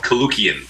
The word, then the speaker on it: Koulloukian: Last name is phonetically just like it's spelled, Koulloukian.